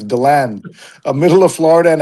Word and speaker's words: DeLand: The common local pronunciation focuses on the land. So, DeLand.